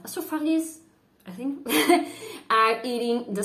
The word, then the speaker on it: Astrophage: It looks like a teeny creature called astrophag. No, you don't pronounce it like that. Astrophages, I think, are eating the sun.